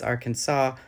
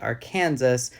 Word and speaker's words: Arkansas: it also could be French for the Sioux pronunciation of Kansas hence why it's Arkansas not Arkansas the French pronunciation is